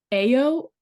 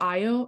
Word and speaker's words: Ayo: I mean, um Ayo or Io, I think Ayo is how you say her name, who plays the main character.